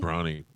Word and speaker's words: Bronny: Bronny. It's not spelled like the Like paper towel, though. LeBron. Right, Yeah. right. Bronny.